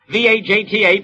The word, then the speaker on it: Vajta: His name, Erich Vajta. V-A-J-T-A, pronounced Vajta.